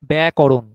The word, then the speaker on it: ব্যাকরণ: করতে হবে এবং খুব সচেতনভাবে ব্যাকরণ প্রথম শব্দটা একটু টেনে বলবেন তাহলে ওটা সহজ হবে উচ্চারণ করা যেমন ব্যাটা টেনে বললে ওটা করণ আপনা আপনি হবে একসঙ্গে বলতে গেলে সহজে